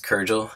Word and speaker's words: Kuril: the name and my last name is kuril yes that's how you pronounce it so kurel is